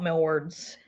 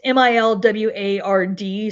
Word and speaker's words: Milward: I think they always called out millwards. It's Milward. So my pronunciation sounds good